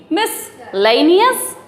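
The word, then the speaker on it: miscellaneous: उसके बाद मी, मिसलेनियस, मिसलेनियस, मिसलेनियस, okay, है ना, अच्छी ट्रिक, मिसलेनियस, ठीक।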